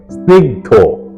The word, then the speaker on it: স্নিগ্ধ: 50 number মূল শব্দ স্নিগ্ধ সঠিক এবং শুদ্ধ উচ্চারণ হল স্নিগ্ধ অকারান্ত উচ্চারণ স্নিগ্ধ প্রত্যেকেই অনুশীলন করবেন ধন্যবাদ